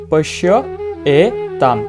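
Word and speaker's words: পশ্যৈতাম্: আমরা এখানে যদি ভেঙে উচ্চারণ করি তাহলে হবে পশ্য এ তাম। কি হবে উচ্চারণ? পশ্য এ তাম। তাহলে আমরা উচ্চারণ করবো এখানে পশ্য এ তাম। শিক্ষার্থীরা এখানে অনুসার থাকার কারণে আমরা উচ্চারণ করবো ম, বা আমরা জানি সংস্কৃত ভাষায় অনুসার উচ্চারণটা ম।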